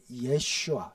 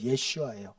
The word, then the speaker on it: 예슈아: 내가 예슈아 어 예 예슈아 예슈아 예수님의 히브리식 그러니까 그 당시 아람어 발음입니다 우리는 예수 하고 영어로는 지저인 지저스가 제일 엉망이에요 저 어떻게 보면 원래 원어 발음은 예슈아 우리 한국말 예수가 훨씬